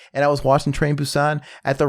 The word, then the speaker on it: Busan: i was watching train busan at the right time maybe i would have shed a tear it was sad it's pronounced busan and you know what